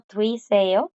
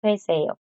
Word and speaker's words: 되세요: Se podría pronunciar como tui seo, pero cuando los coreanos hablan rápido lo pronuncian más como tue seo. Tue seo. Entonces suena más como esto. Tue seo. Toe suena más como una E.